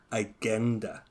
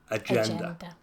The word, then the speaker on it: agenda: 20 we have agenda so that g is J agender AG gender how